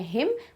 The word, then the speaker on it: hymn: तो भगवान जी को डेडिकेटेड कोई भी सॉन्ग या फिर कोई भी पोएम, वो कहलाता है हिम, but spelling is different, HYMN.